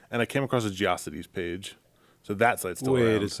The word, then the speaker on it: GeoCities: Did people actually call it GeoCities? I'd never heard that. I think. I did. I think you just apparently. mispronounced it. It's fine. I think I don't care. It's old. I called it. It's fucking irrelevant. I called it geosites.